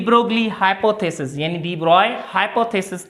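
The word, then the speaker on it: de Broglie: त हिते हिकिड़ो साइंटिस्ट आयो जंहिं छा नालो हुअसि, हूअं पढ़ंदा त लिखंदा आहियूंसि डी ब्रोगली लिखंदा आहियूंसि, लेकिन हिन जो नालो प्रोनाउंसिएशन में पढ़िबो डी ब्रॉय।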